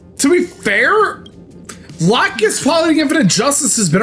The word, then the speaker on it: Lacus: Seed Freedom, I learned her name was actually pronounced この Lacus. 学院で簡単な手伝いをしてた。 And not Lacus, as we all thought from the Ocean Dome of Gundam Seed.